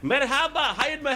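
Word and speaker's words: merhaba: I think it's mehaba my brother. How are you? Yes, that's how you pronounce it, man.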